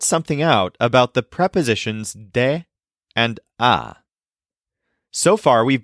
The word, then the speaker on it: del: sayug but in Spanish the words de and El blend together into one new word d spelled D L let's practice with a